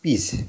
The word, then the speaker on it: piece: ঠিক আছে, তারপরে দেখো PIECE হচ্ছে কি পিস। তাহলে এইখানেও দেখো আই এবং ই এর উচ্চারণ একসাথে হচ্ছে হ্রস্ব এর মতো, পিস।